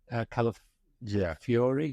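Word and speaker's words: Calafiori: him is a as the Italian Center back Cal Fury that's how it's pronounced yeah left sided young good on the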